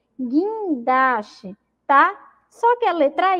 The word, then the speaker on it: guindaste: Olha lá, caranguejo, fogueira, foguete, jegue, águia, guitarra, laguinho, sagui. São aí exemplos de palavras que o U não foi pronunciado, tá bom?